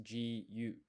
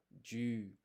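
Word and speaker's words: じゅ: And so this is not pronounced ji, yu, it's a blended syllable, ju.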